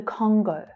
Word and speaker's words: Congo: So the stress here is on the first syllable.